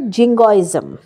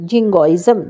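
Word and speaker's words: jingoism: extreme patriotism তাকে বলে জিঙ্গজম এখানে কিন্তু জিটা গ হিসেবে উচ্চারিত হল জিঙ্গজম জিনজয়েজম হলো না অথচ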